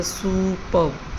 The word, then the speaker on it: superb: बी पे stress है superb.